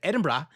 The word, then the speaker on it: Edinburgh: The Scots pronounce it Edinburgh. And Or is I said it wrong. I said said it like brah.